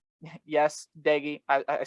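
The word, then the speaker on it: Doege: watch a couple offensive battles here burmeister versus deggy yes diggy i i said it right this time mountaineer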